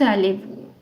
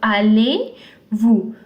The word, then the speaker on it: allez-vous: you will say comment allez-vous. This Z, the Z is not pronounced because it's a consonant in the end. So allez-vous.